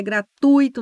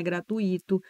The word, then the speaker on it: gratuito: fluido não é fluído é gratuito não é gratuito é pudico não é